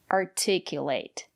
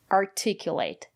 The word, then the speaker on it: articulate: for example determine participate articulate so remember if the syllable after the letter T is stressed we pronounce it as T articulate and if the syllable